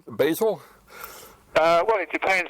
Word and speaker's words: Basel: If you want to say it with an American accent, you could say Basil or if you want to with a European one, you say Basel. Basel.